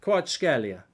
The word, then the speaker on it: Kvaratskhelia: Kvaratskhelia is apparently how you do it.